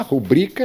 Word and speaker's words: rubrica: A rubrica, lembre-se da palavra cuíca. Você pronuncia cuíca como você pronuncia rubrica, que seria uma assinatura.